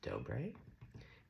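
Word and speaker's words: Dobre: I believe her last name's pronounced Dobé.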